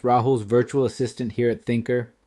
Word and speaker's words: Thinkrr: You may notice I wrote Thinker spelled out differently than our company name. This is a trick to ensure the AI pronounces the name properly instead of saying Think R.